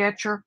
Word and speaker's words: Etchr: do today I am in love with the etcher company and it is spelled et ch are they originally came out